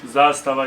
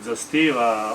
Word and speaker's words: Zastava: So if you want to pronounce it as people pronounce in Serbia, then you can head to our social media.